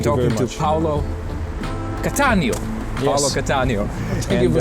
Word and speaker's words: Paolo Cattaneo: Paolo Cattaneo.